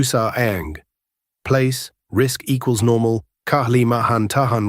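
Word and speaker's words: Kalimantan: place, risk equals normal, Kahlimahan Tahan river site, stress second syllable, Kahlimahan Tan, place, risk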